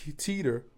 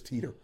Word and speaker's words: Teeter: It's Teeter. I said I wasn't gonna say her name. Oh, like Harris Teeter.